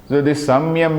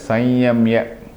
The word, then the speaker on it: संयम: स उच्यते कर्मेंद्रिय समयम समयम इ एक्चुअली प्रोनाउंस एस संयम बाय in fact the people who actually traditional way of pronouns और the most correct way of pronouns is संयम because there is no such